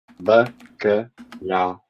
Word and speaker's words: bacalhau: But yeah, bacalhau. That's how you pronounce it.